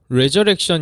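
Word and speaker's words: resurrection: 단어가 아니라 이렇게 한다 한 단어 입니다 아 레저렉션 이라고 읽어요 왜 의외의 줘 물어 촌 암튼 이렇게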